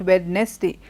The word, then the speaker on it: Wednesday: I hope you're paying attention to how I am pronouncing the word Wednesday. Not Wednesday, but Wednesday.